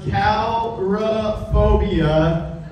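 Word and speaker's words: coulrophobia: Does anyone have, I believe it's pronounced calrophobia, which is actually the medical term for a fear of clowns, because you're in the wrong fucking room.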